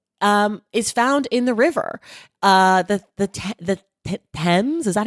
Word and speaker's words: Thames: The Thames, is that how you say it?